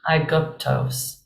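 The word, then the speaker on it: Αἴγυπτος: Mason I sound so this word is going to start with the sound I I hope Egypt right um good toast that up salon would make kind of an up sound I guptos I kept trying to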